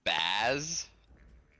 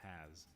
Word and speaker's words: Has: Hey, sorry, did you say your name was Baz? No, it's Has.